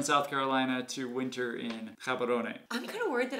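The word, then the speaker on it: Gaborone: We've heard it pronounced Gabs. We hear some people say Gabarone. In Setswana, I believe it's pronounced Gabarone.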